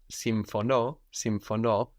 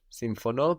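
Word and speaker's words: συμφωνώ: Some other verbs with their accent on the end are symphono, which means I agree, symphono, Symphono.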